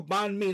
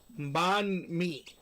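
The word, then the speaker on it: bánh mì: Ban me. That's how you That's how you spell it. Ban me. B A N H M I. Ban me.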